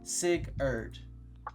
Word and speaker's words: Sigurd: Sigurd. Not Sigurd. It's Sigurd. Sigurd. Okay, Sigurd. That's how you say it.